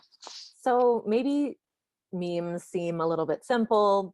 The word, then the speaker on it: meme: according to dawkins a meme is quote a unit of cultural transmission or imitation and the term comes from the greek mimema which means imitated and which dawkins supposedly shortened to rhyme with gene on purpose so this